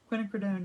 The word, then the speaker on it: quinacridone: into this quinacridone i'm gonna say it right quinacridone nickel azo gold which is it's like a